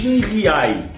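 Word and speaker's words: Giay: área no Palmeiras ag riai se escreve com g mas se fala com R agustin riai tem 20 anos e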